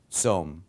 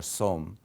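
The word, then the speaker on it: צום: We say usually som or som instead of saum, but it's the same concept.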